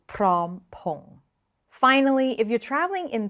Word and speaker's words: Phrom Phong: Or if you need to get off at the Phrom Phong station, it is Prom Pong.